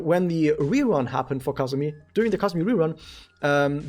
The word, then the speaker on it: Kazumi: right here is how you say this is kazumi and kazusa who is kazuza well that's more